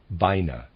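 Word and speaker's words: Binah: would say wisdom and on the other side Bina b-i-n-a-h came in from the universe we would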